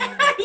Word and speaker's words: EC: Oh, we've been saying it wrong. We've been butchering your name. Essie.